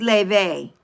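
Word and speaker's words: Laufey: Just like if you all listen to the beautiful um Le, but it's spelled low, right? L A U F E Y. Her name is Ley.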